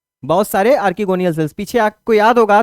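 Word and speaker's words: archegonial: क्या बोलते हैं, आर्कीगोनियल सेल, या आर्चिगोनियल भी आप लोग प्रोनाउंसिएशन कर सकते हैं।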